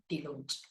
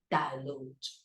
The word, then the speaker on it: dilute: Asian people love pronouncing this word delude, just like Vietnamese students, and even English teachers, Vietnamese teachers who teach English pronounce this word delude. If you say delude, if you pronounce delude, this is Vietnamese English. Singaporean English delude, Chinese English delude, Japanese English delude, but American English and British English, what? Dilute.